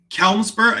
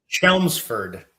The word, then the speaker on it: Chelmsford: Um, Kelmsburg. Is that how you pronounce it? Kelmsford. No, it's pronounced Chelmsford.